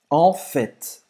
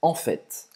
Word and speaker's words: en fait: En fait, en fait, en fait. En fait, E você vai então. pronunciar o T, né?